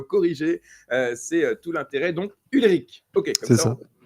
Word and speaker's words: Ulrich: Je vous demande d'accueillir Ulrich. Ulrich, comment on prononce? Comme ça, dès le départ, je ne me trompe pas. Du coup, tu t'es trompé, on dit Ulrich.